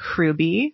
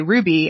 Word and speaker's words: Hruby: I say Hruby, like roll it together.